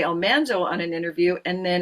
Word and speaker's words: Almanzo: So, we've been saying for years, Almanzo. She said, "Almanso." I I'd been told by in letters for years that we'd been saying it wrong, but there was nothing I could do about that. But I'm converted to Almanso now. Now he's Almanso.